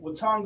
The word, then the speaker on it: Watonga: So can you share with us, your journey from, being originally from a small town, I want to make sure I pronounce it right, Watonga, Oklahoma?